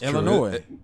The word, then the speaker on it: Illinois: That's Illinois. It's not yeah. Illinois. It's not Illinois. S is silent.